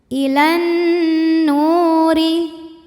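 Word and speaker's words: إِلَى النُّورِ: Kemudian alif lamnya dinamakan dengan alif lam syamsiyah karena alif lam menghadapi huruf syamsiyah yaitu nun. Maka alif lam lewat, tidak kita baca. Ilan. Kemudian nunnya gunnah musyaddadah atau wajibul gunnah karena nun tasydid, maka dibacanya dengung.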